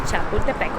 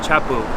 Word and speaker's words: Chapultepec: Chapultepec, or Chapu. Chapu, Chapu as the locals say it.